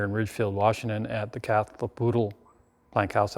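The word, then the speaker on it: Cathlapotle: We decided to film at this location here in Ridgefield, Washington at the Kathleopootl Plank House. Actually, the old pronunciation would be Gothlepoots.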